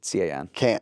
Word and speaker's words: Cannes: It's not that hard. Just CAN. Can.